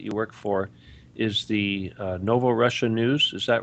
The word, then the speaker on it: Novorossia: But let me spell it out for everybody because it's not spelled like you would think. But it's Novorossia.